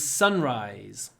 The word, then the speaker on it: sunrise: for what time is sunrise there was a beautiful sunrise this morning Sunrise Sunrise stress on the first word Sunrise so we get a long s Sunrise Sunrise celebrities such